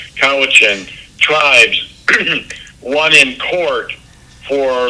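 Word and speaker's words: Cowichan: So, in British Columbia, they recently had a court ruling that the Kowichin tribe Kawichin Kathy just gave me the correct pronunciation. Kawichin tribes won in court for land rights um years ago.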